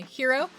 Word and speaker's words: gyro: You just told me, hero. The food is hero, but spelled with a Y.